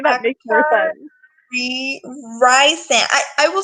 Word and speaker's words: Rysand: I feel like that's what everyone else says, and I'm Oh, like, and the actor wiki says that it's pronounced Ryzen. no. See, that sounds so bad to me. Rysand sounds so much That's a very better.